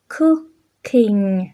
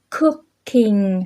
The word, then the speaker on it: cooking: Hai cái o đó các bạn phát âm cái kiểu mà u ơ chứ không phải phát âm là o, mà cũng không phải